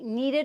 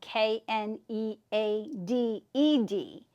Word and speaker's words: kneaded: And it'll be gray and it'll say kneaded eraser. And that's spelled K N E A D E D.